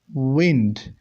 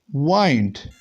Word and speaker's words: wind: If it is noun, it would be pronounced as wind, and the same word, if it is functioning as a verb, then it would be pronounced as wind.